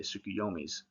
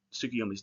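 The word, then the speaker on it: Tsukuyomi: So you see that in like Monday is moon day, sukuyomi's uh day, not sukiyomi's day, but tied to him through moon day.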